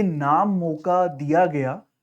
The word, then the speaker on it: Mocha: That is cyclone मोका। इट्स नॉट मोचा, इट इज मोका। इसको pronunciation आप मोका बोलेंगे, इसको ना कि मोचा।